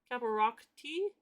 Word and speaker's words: Caparocti: Caparocti?